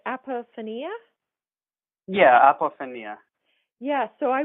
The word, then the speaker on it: apophenia: I'm pronouncing it right M or from not pronouncing right apophenia yeah yeah yes so I work with them